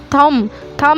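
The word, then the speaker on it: thumb: भी साइलेंट ठीक है ऐसे ही थम-थम में भी होनी धमकी प्रनंसीएशन और है बी का उच्चारण ही नहीं हो रहा तो यहां पर भी साइलेंट आए से कॉम कॉम में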